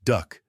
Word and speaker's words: DUKW: DUKW amphibious trucks, the name derived from manufacturer codes, but inevitably pronounced duck, could swim ashore and